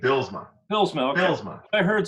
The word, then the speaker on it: Bylsma: You can say Bylsma, as long as you keep the S and not a Z. Like if we're going to be nitpicky, that's how they say it in the old country.